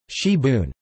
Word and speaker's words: sibwn: Wales, known as spring onion or gibbon, also known in South Wales as sibon, pronounced shibun, from the French cibo.